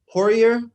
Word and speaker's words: Poirier: But Poirier, is that how you pronounce his name? Dustin? Poirier, yeah.